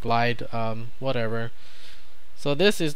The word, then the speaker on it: Gelide: interesting to me uh i think it's pronounced uh galide i call it glide um whatever so this